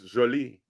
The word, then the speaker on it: Jolie: Her name was Jolie. You have to say it like that.